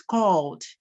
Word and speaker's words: called: One is called, right? While the second is worked, ed, one pronounced D, the other pronounced T, worked and called.